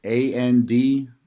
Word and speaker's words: Andrzejek: All right, it's so my Twitter is Coach ANDRZEJEK. That's ANDRZEJEK. I pronounce it Andrzejek, but if you see me, just do your best.